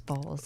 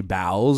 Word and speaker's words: Bowles: like saying Dr balls it sounds so good I appreciate that because I don't really like my last name too much Little People mispronounce it they say bowels or something like that too so in England